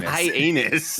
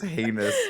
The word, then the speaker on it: heinous: nick pronounce it yeah you were saying hi anus i caught it and immediately was like i'm not bringing any attention to high anus i thought you weren't talking about hyannis like this city that's in massachusetts no it's heinous but i spelled it i pronounced it hyenas for whatever reason i